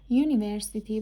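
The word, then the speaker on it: university: ا به کار می‌رود زیرا یونیورسیتی به صورت یونیورسیتی تلفظ میشه و یوروپن به صورت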